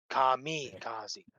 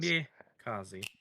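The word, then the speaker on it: kamikaze: See kami kazzy, not ki kazzi.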